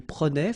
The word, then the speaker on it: prenait: Je prenais, tu prenais, il prenait, final T not pronounced, so the same form.